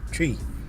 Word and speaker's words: Twi: language they speak in Ghana is called a Twi, and it's spelled TWI.